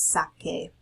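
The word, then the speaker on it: saque: So the C turns into a QU, so sacar becomes sake. And the reason you're making this change again is so that the pronunciation sounds like the verb originally did.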